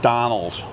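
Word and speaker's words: Dónal: It's like Donald and Donald.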